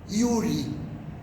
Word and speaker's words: Yuri: y a n ov Yuri ele começa com j j pronunciando como ir né Yuri Juliano que mais mexeu